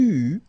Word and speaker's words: eus: that for each forms you will pronounce this combination of vowels e, u. You don't pronounce it like normally we would pronounce it e, okay, but we will pronounce it u all the time.